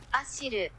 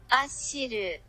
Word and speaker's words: Achyll: I know that I'm going to say the name wrong, I've asked Google to tell me exactly how it's said. Ashiru. Let's say that again for the kids at home. Ashiru.